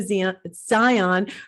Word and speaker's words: Zion: It's Zion, correct? Am I It's pronouncing Zion, yes.